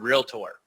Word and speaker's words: realtor: First, we need to work on helping them pronounce the word realtor. To quote my friend Susan Cooper, we don't go to a docator, so they should not go to a realtor.